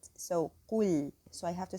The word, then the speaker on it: قل: So the word قل, the qaf is heavy and the lam is light. So قل. So I have to say قو, not ko.